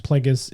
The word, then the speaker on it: Plagueis: I think they, they heavily implied, but did not write, say it correctly, which is Plagueis and, uh, Palpatine were